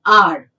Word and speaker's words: hour: An R, even though the word starts with H, but the sound when you pronounce this word, the beginning we get a vowel sound.